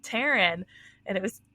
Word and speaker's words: Tarin: what I thought and he was like I see that's your name because obviously have a name tag on and you know he's like pronounced the same I'm like yeah and